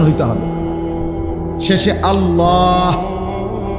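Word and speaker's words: الله: উচ্চারণ হইতে হবে শেষে আল্লাহ শেষে একটা গোল হা আছে ছোট হা আল্লাহ মানে আল্লাহু তো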